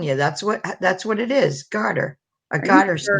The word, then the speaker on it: garter snake: I'm not a big fraidy cat of snakes, but I had a gardener snake chase me once, and that is like A what snake?